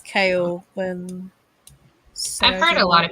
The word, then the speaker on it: Chaol: so i don't like color or chaola however you want to say his name i think it's kale i've heard a lot